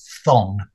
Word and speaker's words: phthong: Yeah, well, one I think I've used earlier, which was thong, which is a little bit tricky to say, but it's spelled P-H-T-H-O-N-G. Mm-hmm. So thong is a word that's not often used alone.